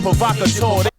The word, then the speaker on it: provocateur: Used to be a rat, now he an agent provocateur. I like the agent provocateur title. I'm glad I pronounced that correctly.